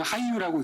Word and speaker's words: HYWU: 제목은 빅데이터 분석 플랫폼을 이용한 저희는 하이유라고 읽습니다.